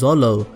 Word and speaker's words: Zoro: Zolo but in reality even in Japanese the pronunciation of zoro's name comes out as Zolo so one can say